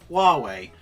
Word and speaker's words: Huawei: people all like to tell me how to pronounce Huawei which apparently is how it is said also